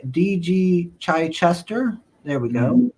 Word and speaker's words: Chichester: Chichester.